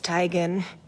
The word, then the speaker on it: Teigen: fan on Twitter that she stopped correcting people when they pronounced her last name Teigen so she just adopted the new pronunciation and she even got her mom to confirm I'm tired of living this lie it's Tigan isn't it mom while on the red